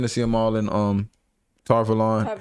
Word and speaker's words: Tar Valon: I do think Tar Valon is a better pronunciation because I think it's meant to sound like the city of Avalon from Arthurian legend.